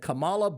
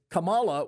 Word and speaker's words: Kamala: The problem is Camala would have likely uh am I saying it wrong? Is it Kamala? I'm sorry. I'm so sorry. I'm so sorry. Uh Camala or Kamla, take your pick.